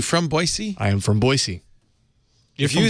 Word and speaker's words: Boise: say it everybody say everybody outside of Idaho says Boise a z but it's boisey wey I didn't know that